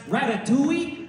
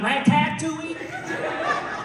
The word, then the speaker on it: Ratatouille: sorry that is incorrect it is pronounced Ratatouille not Ratatouille that is it actually yes